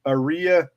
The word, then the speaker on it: Aria: You want to pronounce it area in this area code, or is it aria? Like Maria without the M.